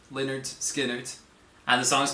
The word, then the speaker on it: Lynyrd Skynyrd: us this guy I did some research it's pronounced Leonard skard Leonard skard and the song is called Freebird uh this